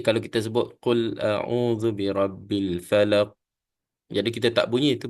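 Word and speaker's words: فلق: kemudian kita akan matikan Fa bukan pa Ya pa tu bacaan ejaan bukan Arab ya jadi Arab ni sebut fa fa seolah kalau kita kata F lah Fa Falaq Q ini dimatikan dan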